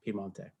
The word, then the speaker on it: Piemonte: wine for a couple hundred years now in Piemonte.